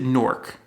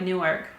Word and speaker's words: Newark: new york but like newark you have a much stronger e in there than i do i say nork almost like n-o-a-r-k listeners let us know